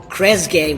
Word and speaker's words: Kresge: We've got Kresge with us today.